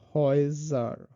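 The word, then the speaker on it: Häuser: এ umlaut আর তারপর হলো উ, এটার উচ্চারণটা হলো অয়, যেমন হয়জার, হয়জার, এটার উচ্চারণ হলো অয়ের মতো বাংলা।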